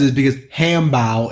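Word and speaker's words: 汉堡: That's because the reason is because hambao is how you say hamburger in Chinese.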